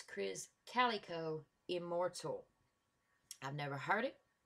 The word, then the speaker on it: Krizz Kaliko: was mispronouncing it, that he pronounces it like Cali, like California, and that they said that was a commonly mispronounced name. So it's Krizz Kaliko Immortal.